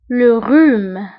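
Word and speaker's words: rhume: زكام لروم لروم لروم. وانتبهوا أيضا لروم فكنكتبوها بآغ أش لروم لروم.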